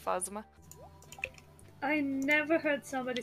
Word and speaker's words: Phasma: God okay fine and it's not plasma I also thought like I I swore I saw it spelled like that maybe everybody is just incompetent at saying phasma I never heard somebody